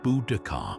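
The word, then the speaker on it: Boudica: Her name Buudaca, pronounced Budakar, reverberates through history as a symbol of fierce independence, tragic vengeance, and unwavering resistance against overwhelming foreign might.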